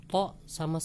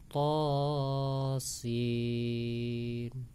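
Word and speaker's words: طس: Kemudian to sama sin dibacanya to sa, ya keliru ya. Yang benar adalah to sin.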